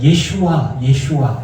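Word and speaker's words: ישוע: 근데 조슈아가 신약에서는 예수예요. 그 예슈아 이렇게 발음하거든요. 그러면 여러분 생각을 해봤을 때 여호수아, 조슈아 이런 이름은 지금도 많이 써요.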